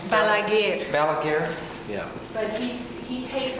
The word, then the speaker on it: Balaguer: How do you pronounce his name? Balaguer.